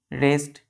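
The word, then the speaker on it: wrest: बच्चों इसके और इसका इन दोनों का प्रोनंसिएशन उच्चारण सेम है रेस्ट रेस्ट लेकिन डिफरेंस क्या बच्चों लेटर में देखिए यहां डब्लू नहीं है यहां पर डब्लू है तो य डब्लू जो यहां है इसका प्रोनंसिएशन नहीं होता है क्लियर तो हम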